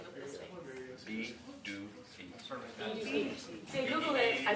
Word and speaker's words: Pituffik: B-do-feet. See, I Googled it, I saw it, just didn't hear it. F-U-K. Pituffik.